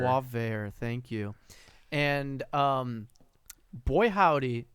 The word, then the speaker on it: Boisvert: a channel called how do you want to pronounce it again? Boisvert. Boisvert.